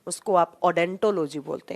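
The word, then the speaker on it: odontology: उसको आप ओडेंटोलॉजी बोलते हैं। ओ यहाँ साइलेंट रहता है, जब आप प्रोनाउंस करते हैं तो उसको डेंटोलॉजी नाम से प्रोनाउंस करते हैं।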